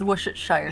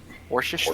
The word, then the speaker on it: Worcestershire: Yes, it's the fantasy world's Worcestershire sauce. Worcestershire. Worcestershire. It's just Worcestershire. Worcestershire, yeah. You knew what I meant. I know it's spelled Worcester, but that's not what we call it here, where the city is actually located.